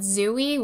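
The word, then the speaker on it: XUI: system is called um we call it zooie which is spelled X UI um zero has this thing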